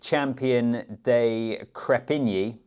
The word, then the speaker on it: Champion de Crespigny: And then Nick Champion de Krepini. Got the pronunciation right. The S is silent.